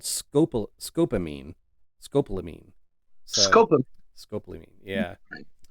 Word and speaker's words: scopolamine: So, um, but yeah, it's and actually that word that I was trying to pronounce it, she pronounced it, and it's called scopolamine.